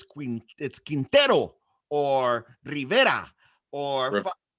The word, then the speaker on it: Rivera: fucking black people's names and why they can't pronounce Spanish names correctly, because that one gets on my fucking nerves. It's Quintero or Rivera or not Riviera.